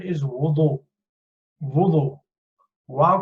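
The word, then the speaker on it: وضوء: बहुत से लोग even in their 60s 70s they say wudu. It's not wuzu. No, there is no such word as wuzu, especially in this context. But the correct pronunciation is wudu.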